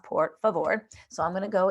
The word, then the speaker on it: por favor: and it's it's pronounced por favor so i'm going to go in it's just like spanish so it's por favor and its pronunciation is poor fa vor and it means please